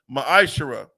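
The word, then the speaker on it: מעשר: 3: 8-10 means temp in the Hebrew is pronounced maish 10% of every penny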